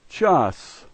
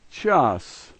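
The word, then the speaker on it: час: The first letter is cha, the second letter a, and the third letter s, and this is pronounced chas, chas.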